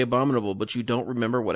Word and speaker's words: Abominable: surprised that you'd like a babadoo boo like you pronounced it no there's no tea in there abominable abominable there you go perfect had a